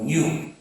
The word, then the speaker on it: GNU: Su nombre es GNU o Newu y se escribe GNU.